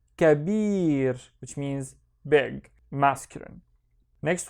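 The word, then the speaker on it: كبير: The first syllable is ka. The second syllable is bir. So kabir, which means big, masculine.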